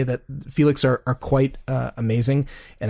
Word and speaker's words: Fiilex: by a company called felix and felix is spelt somewhat odd it's f-i-i-l-e-x and in the interest